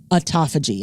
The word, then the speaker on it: autophagy: Japanese scientist for the discovery of something called autophagy. And I'm going to spell that for you so that you know what that word is.